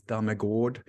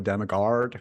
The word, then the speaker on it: Dammegard: No, because the way it's pronounced really is Dammegard.